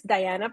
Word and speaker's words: Dahiana: So yes, my name is Dahiana. It's spelled very different and unique. The H is silent in Spanish.